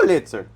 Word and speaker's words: Pulitzer: Pulitzer.